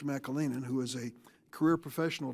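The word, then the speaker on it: McAleenan: to look at when I had mr. McLennan in McLennan I mispronounced his name mr. Mackall Eynon who is a career professional DHS I asked him blank check time mr.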